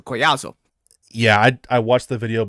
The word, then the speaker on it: Collazo: his last name again it looks like Collazo but if it's Hispanic two L's is a y sound so koyazo yeah I watched the